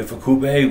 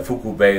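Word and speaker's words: Ifukube: like I love uh Akira of fukubei or ifakubei whatever the correct pronunciation is I've heard it said both ways but I think uh fuku bay is more accurate and he just has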